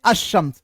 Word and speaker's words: الشمس: اور لام آتے ہیں مگر اس وقت لام کا تلفظ نہیں ہوتا اور لام کے بعد کا حرف مشدد ہوتا. مشدد کا مطلب اس پر تشدید ڈال دیا جاتا ہے, جیسے الشمس. اب الشمس میں ساتھیوں ہم لام کو تو نہیں پڑھ رہے